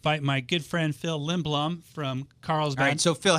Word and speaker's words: Lindblom: today to him by my good friend Phil lindblum from Carl's gray so Phil how do you pronounce that last name it's lindbloom Liam Beluga I've only known him for 10